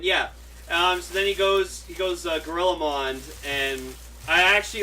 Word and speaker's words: GorillaMond: we got confirmation that the pronunciation of that form is Gorillamon. Yep. That's Gorillamon as opposed to Gorillamondo, which I personally like more, but I'll just call it Gorillamon for the sake of it.